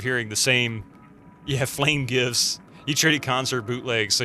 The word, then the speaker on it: GIF: GIF should be pronounced with a hard G because the G stands for graphics.